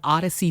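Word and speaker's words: Audacy: from the odyssey app because we are an odyssey station it's spelled a-u-d-a-c-y odyssey open up that app download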